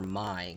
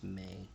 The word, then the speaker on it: Mai: The way it's spelled, I keep wanting to call her Mai, because that's how it's spelled, but I know it's May.